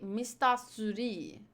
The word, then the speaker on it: Mr. 3: Mr. 3 pronounced as Japanese. San-san? They say Mr. Suri.